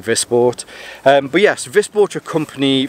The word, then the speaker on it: Wisport: It I it's it's spelled with a W at the beginning. So my mandes tongue wants to say Wii Sport.